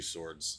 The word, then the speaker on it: swords: That's two swords. Swords. You can't pronounce it. You can't pron What is that? Well, we don't pronounce the W, so leave a put an X in it.